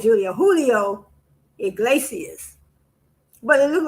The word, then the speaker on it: Julio Iglesias: Oh no, not Julio, Julio Iglesias. But it looked like it's spelled Julio.